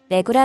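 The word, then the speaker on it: Hlegu: 로 진행하는 내고 입니다 한지 에서는 h 가 묵음 처리 되어 외 구라 발음하고 있습니다 공항은 여기쯤 이고요 외부는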